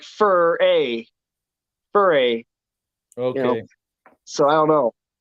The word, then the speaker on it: Furay: Well, it's spelled fur -ay, so it's like Furray.